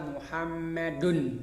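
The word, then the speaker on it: مُحَمَّدٌ: Maka cara membacanya dia adalah dibaca seperti nun sukun di akhir kalimat. Contohnya adalah Muhammadun. Seolah-olah di sini dalnya dia di dhamma, kemudian setelahnya ada nun sukun, dun.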